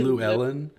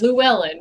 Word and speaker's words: Llewellyn: call me Lulu Ellen. It's Llewellyn. It's one syllable. Llewellyn, not Lulu.